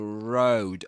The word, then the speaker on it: road: And road. Road. This is pronounced just like glow. Glow. a word he that appears in the story before before this line. Glow that dip thong.